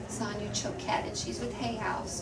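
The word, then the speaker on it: Choquette: courses like a video course her last name is spelled c c h q u t t e son choat and she's with Hay House so you can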